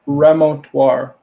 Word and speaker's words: remontoire: It's remontoire. That's it. Remontoire. Remontoire. How do you pronounce that other one?